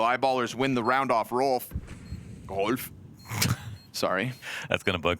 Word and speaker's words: Rolf: Bet Productions regretting telling you how to pronounce it correctly. Rolf.